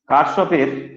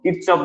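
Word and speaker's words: Kirchhoff: কিরচফ বলে অনেকে, কোনো অসুবিধা নেই, যে যেটা বলবে তাতে প্রতিবাদ করার কিছু নেই। কারশফ, কিরচফ, যে যেটা খুশি বলতে পারে।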